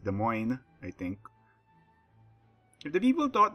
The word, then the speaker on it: Des Moines: get in the game this would be the Des Moines Ashley that's the wrong pronunciation it's pronounced Des Moines I think the people thought the Cleveland at